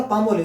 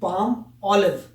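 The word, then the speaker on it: Palmolive: लगा था पामोलिव है, तो मैंने बोला पामोलिव, तो उस बंदे को समझ नहीं आया कि पामोलिव क्या है यार। फिर पता लगा कि ये एक्चुअल प्रोनाउंसिएशन थी पाम ऑलिव।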